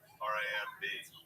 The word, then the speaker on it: Ramb: Yeah, but you spell it like lamb.